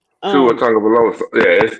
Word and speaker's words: Tagovailoa: The question on the table now is about Tua Tungalova. Did I say his name right? Tua Um, Tagovailoa.